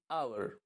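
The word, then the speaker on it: hour: কোনো ওয়ার্ড যদি এইচ দিয়ে শুরু হয় এবং সেই এইচের যে উচ্চারণ সেটা যদি উহ্র থাকে, অর্থাৎ সেটার উচ্চারণ আমরা করি না, সেক্ষেত্রে কি হয়, আমরা অ্যান ব্যবহার করি।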